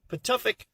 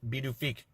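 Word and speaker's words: Pituffik: topic space space but it is called patofik space it's going to take me a little while to get used to calling it beedoofik I think that might be the correct pronunciation anyways besides all that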